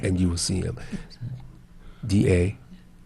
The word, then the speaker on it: Damu: D-A-M-U, I think it's Damu.